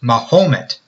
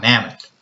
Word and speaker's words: Mahomet: the Mahomet aquafer and it's pronounced Mahomet not Mammoth now aquifers come in